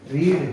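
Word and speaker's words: read: रीड, हमने कल पढ़ा था रेड, आज पढ़ रहे हैं तो रेड, रीड, इनकी उच्चारण हो जाएगा रेड, और इसका भी उच्चारण हो जाएगा रेड।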